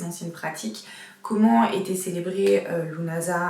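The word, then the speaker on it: Lughnasadh: Alors déjà il faut savoir que comme beaucoup des mots celtiques, Lunasa ne se dit pas Lugnasad, donc comme ça s'écrit, mais du coup Lunasad, tout comme Samhain ne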